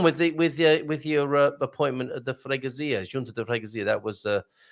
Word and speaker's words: Freguesia: How are you getting on with your appointment at the Freguesia, Junta de Freguesia? That was I've heard that pronounced quite a few different ways. The Freguesa by English people.